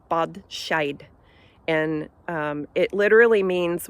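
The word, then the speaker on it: bean sí: aware of um so the word Banshee in Irish is pronounced uh bad sh and um it literally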